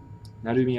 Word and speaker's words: Narumi: Narumi Akari. Okay. I think I said it wrong in Japanese. Because the umi, naru, umi, threw me off. It's really just Narumi.